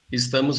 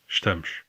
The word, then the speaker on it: estamos: In this word, you can hear the difference in the S sounds, sh in European Portuguese and s in Brazilian Portuguese. You can also hear the vowel reduction in the European word, with the first vowel basically dropped.